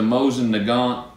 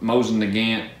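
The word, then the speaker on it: Mosin-Nagant: fit but this is the Mosen neant Mosen nant depends where you're from uh how you pronounce it uh the reason I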